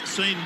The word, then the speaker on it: Sean: OK, the goal kick has been taken by Sean Watson. I'm reliably informed that S-E-A-N is Sean and not Sean, not the Irish pronunciation, but there it is.